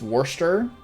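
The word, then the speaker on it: Worcestershire: is Lester on it the thing with Brits is that they pronounce their own words wrong all the time l-e-i-c-e-s-t-e-r Lester like w-o-r-c-e-s-t-e-r-s-h-i-r-e is Worcester skips like half the letters they got all these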